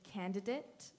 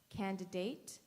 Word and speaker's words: candidate: contestant your word is candidate this word has two correct pronunciations candidate candidate can I have